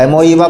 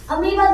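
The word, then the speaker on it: amoeba: Spelling का ध्यान रखना अमीबा का, इसमें बहुत कन्फ्यूजन होता है बच्चा का, एमोईबा पढ़ोगे सब, है ना, अमीबा ही है।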